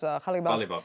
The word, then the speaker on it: Ghalibaf: But first, quickly, Ali, do you believe, the votes of Mohammed Bagher, Ghalibaf, I want to pronounce his name properly, if that is the correct, Ghalibaf, yes. Yeah, will actually go to Saeed Jalil?